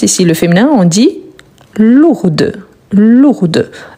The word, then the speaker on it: lourde: Quand on dit on prononce ici le féminin, on dit lourde. Lourde. Donc on prononce bien le D.